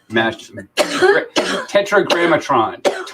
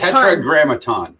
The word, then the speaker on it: Tetragrammaton: Tetragrammatron. That's cool. Tetragrammatron. No, Grammaton. tetragrammaton.